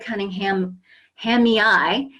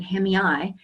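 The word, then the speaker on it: cunninghamii: there is the centipeda Cunningham Hami eye as I found out that's a British pronunciation hemiyai and um actually this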